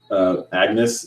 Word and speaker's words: Agnes: is 9 plus 10 equals Agnes is how you pronounce my name and I'm a girl